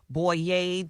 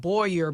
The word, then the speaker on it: Boyer: me on social media up on the boy yay calm and it spelled SH aw a and a B oh ye are or like it's like Boyer but it's pronounced oh yay so yeah I'm